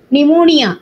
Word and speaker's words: pneumonia: pneumonia, இதுக்கு எது correct spelling? A, ma'am. A, yes. Can you read the spelling? PNEUMONIA. Very good. Pneumonia. P is silent. Okay, pneumonia.